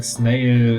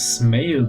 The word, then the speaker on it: snail: mean I do remember pronouncing snail as smil back then uh back